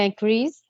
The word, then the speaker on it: increase: Yeah, increase. Increase is Z sound.